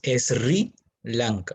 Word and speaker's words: Sri Lanka: de sri lanka que se escribe ese era blanca pero la pronunciación es sri lanka ok sri lanka que